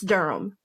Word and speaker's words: Durham: It's Durham. And no, it's actually my maiden name. It's not the city.